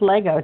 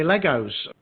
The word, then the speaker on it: Lego: ass you don't think you don't add the s it's just Lego did you know that I was corrected once by a little crispy hot oh yeah Oh over here Americans say Legos cuz I was as